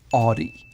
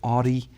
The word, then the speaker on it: Audi: cover another German brand, Audi. I know a lot of Englishmen call it Audi, but the German way to say it is Audi. Audi. AU is always ow.